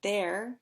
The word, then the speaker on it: there: way so for example there as in there are rhymes with air and hair their air hair they